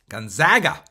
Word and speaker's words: Gonzaga: be your likely emissions outcome at Gonzaga University Gonzaga say it correctly don't get it twisted if